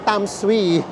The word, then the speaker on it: Tamsui: are here ang basa pala sa kanya ang pronunciation sa kanya ay tamsui tamsui nandito na tayo sa tamsui station and